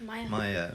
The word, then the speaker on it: Maya: What does it rhyme with? Because it's not going in my head in a minute. Maya. Rhymes with Tire.